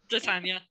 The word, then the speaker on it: Titania: Titania.